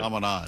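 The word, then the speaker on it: Chaminade: Shaminade or Shamanad. I'm not sure how you pronounce it. Shamanad.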